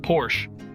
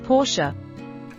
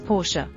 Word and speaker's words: Porsche: Look at that Porsche. I love their cars. Actually, it's Porsche. Seriously? Why the extra syllable? It's a German brand, and that's the correct pronunciation. Most people say Porsche, but it's Porsche.